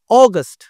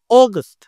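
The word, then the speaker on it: August: দিয়ে কিভাবে হবে জুলাই আগস্ট অগস্ট দেখ এটা একটু জোরে বলতেছি আগস্ট আর আগস্ট একটু আস্তে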